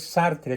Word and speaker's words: Sartre: es Jean Paul sartre sartre y se pronuncia sartr porque el francés se come la e final sí Entonces corrígelo por